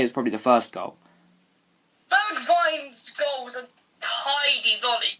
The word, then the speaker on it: Bergwijn: We don't know how to pronounce. But I don't. There's got to be different ways. Google Translate. And it's Bergwijn. Bergwijn.